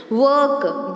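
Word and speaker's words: work: वर्क, जब र आ जाए और वर्क, वर्क र नहीं बोलेंगे, र साइलेंट हो जाएगा, सिर्फ की आवाज़ आएगी, तो वहाँ पे 3 2 डॉट्स, ठीक है।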